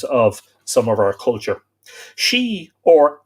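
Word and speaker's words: sídhe: worshiped the she now in irish that's s-i-d-e and that is spelled to various number of ways that's my father d s i for the d-h-e etc pronounced she s-h-e-e i.e the earth gods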